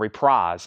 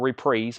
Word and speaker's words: Reprise: So this is a rumored to be scrapped Beach Boys album from Reprise or Reprise, whichever way you prefer to pronounce that.